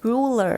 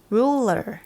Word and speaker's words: ruler: ก็ จะ ออก เป็น เสียง เร อู Ru Ruler นะ คะ Ruler นะ คะ duu a l นะ คะ แบ่ง